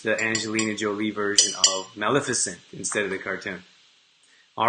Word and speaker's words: Maleficent: Maleficent. So like play off of magnificent. I get it. Maleficent.